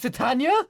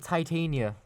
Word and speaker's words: Titania: So it's pronounced Titania. yeah, it's pronounced Titania. What? Did you not know? So I was pronouncing it Titania.